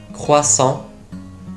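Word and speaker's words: croissant: ところでこのクロワッサン、フランス語ではクワッサンと発音しますが、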